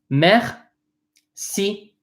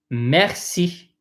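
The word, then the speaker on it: merci: just in case thank you messy messy messy meth see so the first syllable the m ER is pronounced math the CI is pronounced see meth see if you want to apply to thank you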